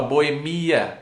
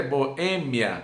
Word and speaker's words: boêmia: Boemia que tu me tens de regresso. Então essa música está errada, porque é silabada isso aí. A pronúncia correta é boêmia e não boemia.